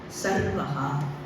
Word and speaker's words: Sarvah: Be very careful when you pronounce, because Sanskritam is highly phonetic. So, if you say Sharvah, it means the destroyer. When you say Sarvah, it is the all.